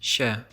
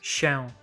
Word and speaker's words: się: For example, this word is normally pronounced się, and is only pronounced like this się. in very careful formal speech.